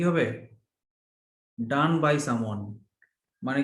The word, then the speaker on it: Donne: আমি যখন পড়তাম আমি লিখতাম জন ডন্নি, আমি এটাকে ডন্নি পড়তাম, জন ডন্নি। ডিওটা বলেনি না জন ড। উচ্চারণটা, বানানটা। এই যে ডান, ডিও এন ডান লিখি, ওইটাই প্রোনাউন্সিয়েশন হবে DONNE। হ্যাঁ, ওটাও হবে double ডান। NE, হ্যাঁ, এই ডিও জন্য এন, আমি হ্যাঁ ডান্নি। ওটাও হবে ডান।